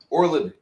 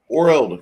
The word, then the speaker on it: Oreld: man that's the proprietor tells you, my name is Mr. Orland. Oreld, excuse me, Oreld.